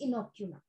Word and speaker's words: inoculum: That is इनोक्यूलम. Mom spelling I एन ओ सी यू एल यू एम इनोक्यूलम.